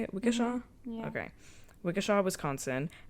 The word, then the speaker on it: Waukesha: Waukesha?